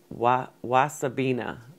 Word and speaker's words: wasabina: I've grown like the giant curled mustard leaf, but I haven't grown the wasabina. That's how it's pronounced.